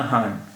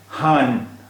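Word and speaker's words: ہاں: फिर इसका उच्चारण होगा हान, हान। लेकिन बिंदी नहीं, इसलिए इसका उच्चारण है हाँ।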